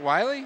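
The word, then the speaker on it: Wylie: Is it Wiley? Yes, it is. I checked before the game. It's spelled W-Y-L-I-E.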